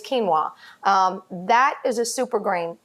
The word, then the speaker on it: quinoa: are made from quinoa and that spelled cute UI Noa I know you're probably looking at that all the time and saying how do you say that : oh why am i ah it's quinoa that is a super